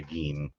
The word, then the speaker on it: Gein: Well, the reason that we're going to say GEIN because that's how it's pronounced generally, although it's going to bother my ears.